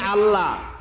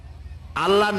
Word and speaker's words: আল্লাহ: করতেছেন আমি কি বলতেছি যদি বলি আল্লাহ তাহলে এটা অশুদ্ধ আল্লাহর নামটা হচ্ছে আল্লাহ বলতে গিয়ে মুখটা গোল হয়ে যাবে বলেন তো আল্লাহ মহব্বত